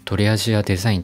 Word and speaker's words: TA+d: いこうと思います ta + d と書いてとりアジアデザインと読むんですけれども台湾